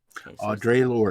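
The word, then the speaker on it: Audre Lorde: the name audrey lord audrey lord all right audrey yeah audrey okay audrey lord audrey like you would in french it would be o instead of like an american so oh drake or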